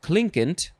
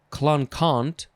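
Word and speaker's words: clinquant: about next is uh you could pronounce this a few ways kling klinkent klinkent or clon kant klon khan but it's spelled clin quant c-l-i-a-c-l-i-n-q i think i'll just try and say klinkent first form adjective from 1591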